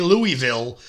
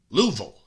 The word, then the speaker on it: Louisville: If you say Louisville, people in Kentucky get very upset. You got to make sure you say it correctly. Louisville.